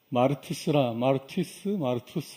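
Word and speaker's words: μάρτυς: 오직 성령이 너에게 임하시면 너희가 권능을 받고 예루살렘과 온 유대와 사마리아와 땅끝까지 이르러 내 증인이 되리라 할 때 그 증인이라는 단어는 마르투스 이런 발음의 그리스어인데요.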